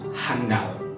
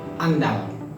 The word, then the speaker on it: andal: dan penulisan sering keliru sering diucapkan dengan kata handal dituliskan juga demikian clear ini tidak pas yang benar adalah andal tanpa hak nah seperti ini Ya